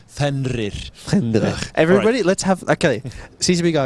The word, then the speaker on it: Fenrir: pronounce it correctly. Fenrir.